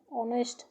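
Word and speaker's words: honest: এটু হলে তো কনসোনেন্ট কিন্তু এর উচ্চারণ হইছে অনেস্ট এইচর উচ্চারণ তো হুয়া নাই।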